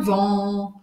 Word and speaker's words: vent: Opa! Olha que legal aqui. É batata quente de novo. En plein vent.